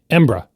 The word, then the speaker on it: Edinburgh: If you're even more in more of a hurry, you can say Edinburgh. Now the burough becomes bruh. Edinburgh bruh. And if you're really in a hurry and you're native, you can say embra.